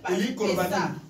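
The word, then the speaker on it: Pessah: C'est qu'on avait dit en hébreu Pessa. Certaines personnes prononcent pas ça. Alléluia. Amen. Mais moi, je dis comme il est écrit en hébreu Pessa.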